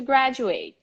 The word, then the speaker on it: graduate: high school graduate so the stress in the first syllable is very strong and the last syllable is pronounced like chocolate we don't say chocolate